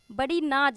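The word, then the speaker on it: badinage: वैसे हम इसको बड़ी नेज पढ़ेंगे, लेकिन हम अपने याद करने के लिए इसको बड़ी नाज ऐसे करके प्रोनाउंस किए थे।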